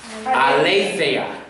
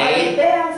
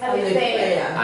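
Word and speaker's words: ἀλήθεια: Aletheia. Aletheia. Aletheia. No Ale- aletea, sino que es aletheia.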